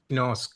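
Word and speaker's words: γινώσκω: The root is ginosk. Ginosko. So Gotcha. it's like a little bit of a hard G.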